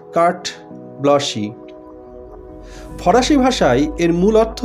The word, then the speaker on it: carte blanche: উচ্চারণটা লক্ষ্য করো বন্ধুরা, লেখার সময় আমরা লিখছি CARTE BLANCHE। মনে হচ্ছে যেন কার্টে ব্লাঞ্চি, কিন্তু তা নয়, এটার উচ্চারণ হচ্ছে কার্ট ব্লশি।